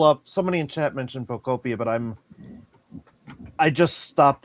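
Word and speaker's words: Pokopia: Pocopia. Pocopia. Pocopia. Man, and I just got used to calling it Like Utopia.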